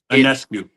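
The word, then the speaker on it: Ionescu: those individuals, Paige Bukers, Sabrina, how do I pronounce her last name again? Anescu.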